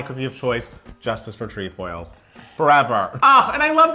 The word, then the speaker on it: Trefoil: is it even pronounced tree foil yes because like it seems like a French word it's it's tree foils here we're in America